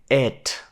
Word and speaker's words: it: Дуже важливо його вимовляти як it. Швидше як наша е, ніж як наша і. Тому що як я, так і багато студентів на початку неправильно вимовляють літеру I в англійській.